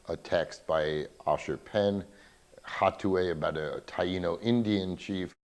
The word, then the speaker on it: Hatuey: hot to a or Otway we're still trying to figure out the pronunciation because in Spanish it would be out way but in in Yiddish it's got the hey so not sure if